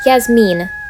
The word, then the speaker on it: Yasmine: jasmine side note my name is not yasmin it's yasmine yes mean that's how you say it now i know i